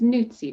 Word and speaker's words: Nootsie: It's Nootsie, right? Yep. That's the pronunciation.